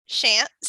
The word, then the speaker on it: Shantz: decided to join us her name is Kate shants is that did I say it correctly yeah